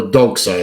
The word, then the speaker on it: Doxa: And Dirk Pitt always wore a specific watch, an orange Doxa, or Doxa if you prefer that pronunciation.